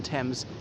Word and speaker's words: Thames: pronounced like that obviously the th in thames is not pronounced as a th as pronounced as a